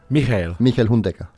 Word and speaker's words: Michael Hundegger: And I always like to pronounce people's names properly. It's Michael Hundegger, is it? It's Michael. Michael Hundegger.